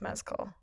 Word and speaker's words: Mescal: I also just very recently learned that his last name is pronounced Mescal.